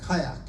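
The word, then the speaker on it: caique: cover is called a kayak and it's not spelled k-a-y-a-k but it's pronounced just like it so when you hear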